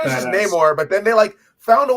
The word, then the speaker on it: Namor: His name alone, his name is just Namor, but then they found a way to write it into El Niño Sin Namor.